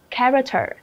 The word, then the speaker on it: character: Đáp án B, nó không phải đáp âm là âm sh, mà nó là âm k. Đó là gì ạ? Character, character, ok, easy.